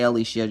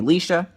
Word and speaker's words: Lisha: My real name is actually Alishia, but I tell people to call me Lisha, so please don't try to say Alicia, just say Lisha, L-I-S-H-A.